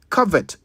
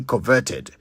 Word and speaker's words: covet: to lust after and in English it is cover not covert which is why you must not say coverted it is cover let's